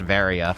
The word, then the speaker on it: Varia: same thing uh it's actually pronounced varia because it's just a mistranslation of barrier oh thanks it's the